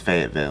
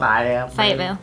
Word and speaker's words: Fayetteville: What's the correct way to pronounce Fayetteville? Fayetteville.